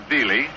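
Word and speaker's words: Veale: Bob Veely spells his name B-E-A-L-E and pronounces it Veely.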